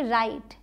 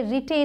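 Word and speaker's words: write: राइट, डब्ल्यू आर आई टी, राइट, इसे रिटे नहीं बोलेंगे। वाइट, डब्ल्यू एच आई टी, वाइट। Line, time, साइट। ये जो लास्ट में ई हैं ये सब साइलेंट हैं, इनको हम प्रोनाउंस नहीं कर रहे हैं।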